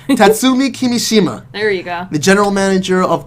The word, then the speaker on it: Kimishima: I get all the details and especially the pronunciations correctly really that announced new personnel changes in the company specifically tatsumi kumi cook nah nah i knew i was gonna get it wrong in tatsumi kimishima ariga the general manager of corporate analysis and